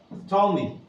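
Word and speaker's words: Ptolemy: believe his name was T me the p is silent that he got go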